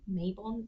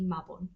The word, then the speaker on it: Mabon: That's the Celtic pronunciation, the Welsh pronunciation. Okay. If you say Mayabon, that's fine. But I'm gonna say Mabon.